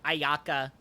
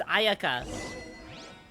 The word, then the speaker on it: Ayaka: I hate how they're pronouncing Ayaka as Ayaka. It's Ayaka. You know, Ayaka.